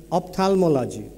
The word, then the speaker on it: ophthalmology: Ophthalmology has a funny letter and a silent letter H.